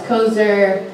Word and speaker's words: Kozer: That's Kozer, like the word loser, but it's spelled with a K.